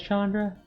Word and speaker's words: Chandra: is an indian name it's actually i've heard pronounced closer to chandra but uh unfortunately us dirty american ends have you know i think pretty much everybody's given up that it's gonna be chandra but i think i think the actual indian name is pronounced closer to chandra or chandra even i mean we've